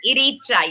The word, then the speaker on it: Iritza: So I'm on a Zoom call the other day, and by the way, how does pronounce this mental health champion's name? It came quickly across my screen. Iritza. Iritza, yeah.